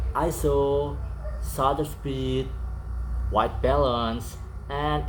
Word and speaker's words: ISO: Some people say it's like I S N O but actually pronounce is one word ISO.